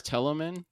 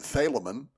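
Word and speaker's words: Thelomen: telemen not fellowman is tellaman is that how you say that I pronounce it thalamin the same like you but I say tell as in just t-h-e-l for some reason it's a great mystery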